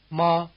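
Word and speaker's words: 骂: tone word hemp and the fourth tone or falling tone word to scold Ma ma again hemp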